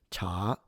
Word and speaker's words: 茶: And this means tea, by the way. 我喝茶, cha. And so if you say cha, it's a different word.